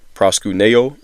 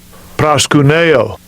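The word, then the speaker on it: προσκυνέω: worship, all right, in the Greek, Strong's G4352, proskuneo is how you pronounce it. Let's go ahead and listen to the pronunciation. Strong's G4352, proskuneo.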